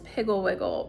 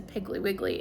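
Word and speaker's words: Piggle-Wiggle: The Frog and Toad books, Mrs. Pigglewiggle, which I pronounced as Piggly Wiggly, and I saw when I was doing research for this video that a lot of people pronounce that name very differently.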